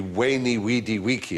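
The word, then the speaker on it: veni, vidi, vici: When I was taught Latin, we were taught to pronounce the V as a W. So it would be Weni, Weedy, Wiki.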